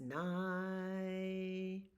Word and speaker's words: nigh: Sleep is nigh. Sleep is near. Nigh means near, but it rhymes with sky, so that's why we sing it that way.